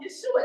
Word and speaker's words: Yeshua: like him and so this is why we say Yeshua instead of Jesus because his mama called him Yeshua the angel pronounced Yeshua didn't say Jesus us this Roman and